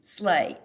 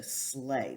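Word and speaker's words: sleigh: m but it's not it's bob b o b slay s l e i g h so slay that's definitely a word that does not sound like it's spelled um and then we've got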